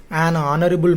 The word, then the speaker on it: honorable: He is an honorable man. Here also H silent.